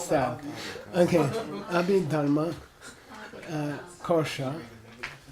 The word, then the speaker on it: Kosha: And he uses the retroflex, although it's optional. Kosha. Twist your tongue back. Kosha.